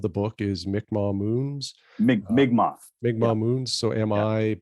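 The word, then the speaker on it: Mi'kmaw: of those words yeah yeah for sure people pronounced it incorrectly so yeah migma butt spell Mi apostrophe k m a w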